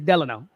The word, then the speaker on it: Delano: right so he's saying that Frank yeah it's Delano I'm saying that's how we that's how we pronounce it in my family my my father